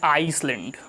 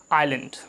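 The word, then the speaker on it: island: This is नॉट आइसलैंड। यहाँ पर जो एस है वो साइलेंट होता है। This is आइलैंड। ये आइसलैंड नहीं है, दिस इज़ आइलैंड। सो हमें इसको आइलैंड पढ़ना है, आइसलैंड बिल्कुल भी नहीं पढ़ना है।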